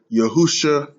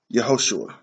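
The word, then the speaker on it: יְהוֹשֻׁעַ: this wrong and you've heard all kinds of pronunciations from yahashi to yahushua to yeshua yahawa i'm just yeshaya i mean there's just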